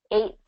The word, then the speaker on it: eighth: And basically what we do is we kind of drop that T on eight. We don't say eight. We don't do the Okay. T and the TH.